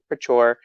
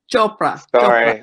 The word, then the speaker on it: Chopra: Deepak Chopra.